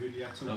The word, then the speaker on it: Julieta: Is it a silent J? So it's pronounced more like a H.